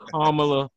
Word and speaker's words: Kamala: Kamala Harris. The young lady's name is Kamala, not Kamala, not Kamala, or nothing like that. Or whatever. It's Kamala Harris.